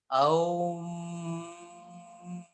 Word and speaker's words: Om: It as it consists of three parts: A plus O plus Ma. A O Ma. When we pronounce it like this, Aum. Okay. Then it will give its full effect.